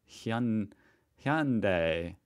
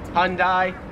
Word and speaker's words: Hyundai: so i feel like you guys say hyundai hyundai hyundai make it like two syllables like hyundai australians three syllables hyundai now 40 and 41 are